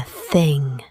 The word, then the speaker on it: Thing: It's the thing, spelt with a capital T and pronounced roughly like the word you'd use for an object.